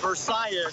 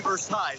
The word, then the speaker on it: Versailles: specifically in front of the Versailles, is how it's pronounced here, but if you're pronouncing it in French, it would be Versailles. You may pronounce it both ways, but it is a